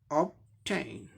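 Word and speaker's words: obtain: दूसरे सिलेबल में टी का ट हो गया, ए आई के लिए ए ई साउंड होगा, ए ई साउंड। नौ के लिए यन के लिए नौ साउंड होगा, ऑब्टेन ऑब्टेन ऑब्टेन ऑब्टेन, ऐसे बोलेंगे, ए ई साउंड है, ऑब्टेन एन।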